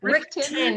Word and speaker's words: Richten: Richten is what we're going with now. I think I've been mispronouncing that.